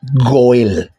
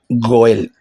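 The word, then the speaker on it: גואל: Ahora se pronuncia Goel. Goel.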